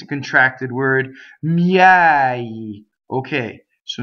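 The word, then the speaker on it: miei: Miɛi. Okay, so now you have an open E surrounded by semi-vowels, right?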